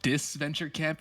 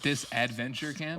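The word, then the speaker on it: Disventure Camp: Uh, first of all, watch how you pronounce it. It's called Disenture Camp, not Disadventure Camp.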